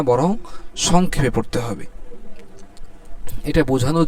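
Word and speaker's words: باء: দুইটা ঠোটকে আমরা মিলাইলে মিলানোর পরে যে ঠোটের ভিজা জায়গা আছে অর্থাৎ ভিতরের অংশ এখান থেকে কি বাটা উচ্চারণ হবে বা বা দুই ঠোটের ভিজা জায়গা থেকে উচ্চারিত হচ্ছে বা আর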